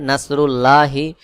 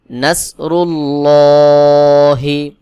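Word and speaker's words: نصر الله: মোটা করে পড়তে হয় যেমন নাসরুল্লাহি অনেকে এখানে উচ্চারণ করে নাসরুল্লাহি এটা ভুল উচ্চারণ সহি উচ্চারণ হলো নাসরুল্লাহি ওয়াও লাম জবর ওয়াল ফাতা জবর ফাত হা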